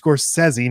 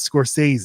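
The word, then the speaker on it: Scorsese: my hesitation is badman I know that it's pronounced scorsi not scores we're gonna get correct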